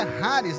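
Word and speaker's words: χάρις: Na verdade é Haris, né? Mas vamos falar Charis porque se escreve Charres Nené.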